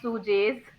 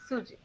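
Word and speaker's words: sujet: So it is lay, not lays, not pronouns, not sujes. So it is lay, pronoun, suje. Suje.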